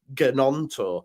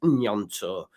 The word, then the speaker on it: Gnonto: You probably say Gnonto, which is not how you pronounce it, brother. It's Gnonto.